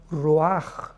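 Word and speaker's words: ruach: Y es importante porque la palabra vi entonces la palabra roaj. Roaj r u a c h. La ch en hebreo se pronuncia como una j roj que significa espíritus.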